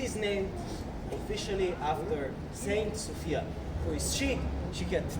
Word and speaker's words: Sofia: So some people say Sofia, some people say Sofia. We locals say Sofia.